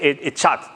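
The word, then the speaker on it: אחד: La palabra uno en hebreo es Ejat. Se pronuncia Ejat. Se podría decir Echat también. Echat.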